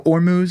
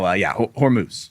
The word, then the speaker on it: Hormuz: Yeah, could work, but no. Hormuz is correct.